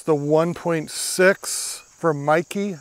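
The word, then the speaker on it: Meike: it's the 1.6 from Mikey I think that's how you pronounce that m-e-i-k-e and that definitely helps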